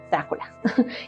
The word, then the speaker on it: Drácula: entregarlo honorífico o Drácula Así es como se pronuncia Drácula que significa dragón o esto depende mucho del